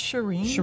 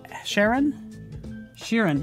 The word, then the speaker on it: Sheeran: Is it pronounced Shireen? Sharon? Sheeran. Oh, Sheeran. I'm gonna start saying Shireen though. Shireen, it's Sheeran.